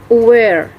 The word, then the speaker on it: aware: The phonetics of this word is remove. Remove. The stress is located on the second syllable, and the meaning of this word is menghapus. The ninth word is aware.